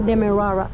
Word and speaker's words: Demerara: yo le dije, mira, no entiendo cómo pronunciar esta palabra, Demerara, y es simplemente Demerara.